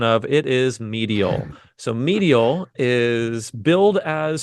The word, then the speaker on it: Medial: with a title that I looked up the pronunciation of it is medial so medial is build as sodoku meets mind